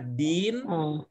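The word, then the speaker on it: دين: yang beda gitu ya kalau agama Din Ya kalau hutang itu Dain ya agama apa samaainang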